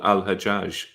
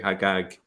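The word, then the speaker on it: الحجاج: it a different way hagag is the Jewish version of that and it's still pronounced that way agag in some Arab countries such as Egypt but what does hagag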